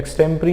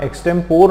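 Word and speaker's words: extempore: बार देख लेते हैं extemptry ये वर्ड याद रखना एक्टेंपोर नहीं बोलना extempt बोलना ठीक है अब एक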